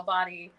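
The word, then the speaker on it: BOTI: buying we should say b-o-t-i is how body is spelled b-o-t-i studios right so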